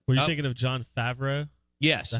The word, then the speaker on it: Favreau: Were you thinking of John Favreau?